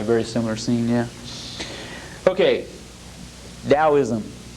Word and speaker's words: Taoism: similar scene yeah okay Taoism spelled taoism pronounced Taoism as d.o.w ISM was founded by a